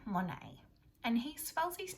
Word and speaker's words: Monet: t on the end m o n e t and that's because he's french so his name is pronounced a little bit differently to what we would expect when we look at